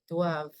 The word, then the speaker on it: doivent: Je dois, tu dois, il, elle doit, nous devons, vous devez, ils, elles doivent. Doivent. V. That's it. The V is pronounced.